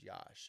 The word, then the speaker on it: Yash: Like hush, but Yush. Almost like it's a USH, even though that's not how it's spelled.